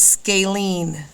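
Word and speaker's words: scalene: same so we call that a what it's pronounced scalen all right this one here look at your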